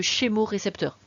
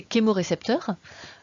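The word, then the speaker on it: chémorécepteur: mix entre les deux on ne veut pas de chez moe récepteur si vous parlez grecque vous parler grec et donc ch se prononcent pas c'est un crime aux récepteurs donc c'est kembo récepteur terme qui est utilisée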